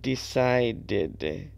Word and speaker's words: decided: the separate syllable and decided it's the D sound all right right how